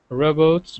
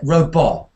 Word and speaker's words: robot: you straight away because you're saying Robo Robo Robo King is well robot robots so it's a o o it's actually it's a very good word for um the phone and clock sound problem so phone clock uh this is a common merger and here in one word we've got both of those sounds robots so uh it's